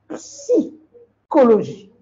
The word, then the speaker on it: psychologie: Ils coupent le P. Hein? Il faut dire psy. C'est comme Pepsi. La boisson Pepsi. Hein? Psychologie.